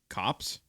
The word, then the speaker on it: copse: Kyle, I would like for how do you pronounce that word if it's not corpse? Cops? Copes? Yeah, it's gonna be cops. COPSE?